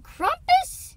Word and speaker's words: Krampus: up for that camp you mean kumus whatever it's spelled Krampus but I swear they pronounced Krampus yeah they call kumus well we'll find out